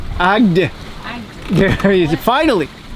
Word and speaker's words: Agde: Wait, apparently it's Agde. Agde.